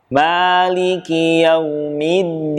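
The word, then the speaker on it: مالك: Maliki yaumiddin. Maliki yaumiddin. Kesalahan yang sering terjadi adalah membaca huruf ma tidak dengan menyempurnakan harokat.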